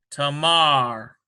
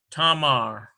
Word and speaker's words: Tamar: Here's a Tav, A sound, T, A, Mem, M sound, ta, ma, ends with a resh. Tamar. Tamar.